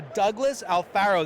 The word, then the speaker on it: Douglas Alfaro: okay we're here with a Douglas Alfaro that I said it right yep and I